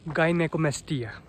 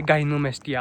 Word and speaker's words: gynecomastia: गाइनेकोमेस्टिया, या तुम कह सकते हो इसे गाइनोमेस्टिया। आजकल पता नहीं जो भी मैंने देखा है प्रोनाउंसिएट ही इसको ऐसे करते हैं, गाइनोमेस्टिया गाइनोमेस्टिया। ये गाइनोमेस्टिया गाइनेकोमेस्टिया है।